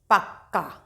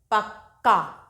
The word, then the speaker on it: पक्का: तो इन शब्दों में आप देखेंगे कि हल्की सी का की साउंड निकलेगी, का की ध्वनि, और पूरा जो का है उसका स्पष्ट उच्चारण किया जाएगा। कैसे? पक्का, आधा हल्का सा का, क्योंकि ये आधा का है और ये पूरा का है।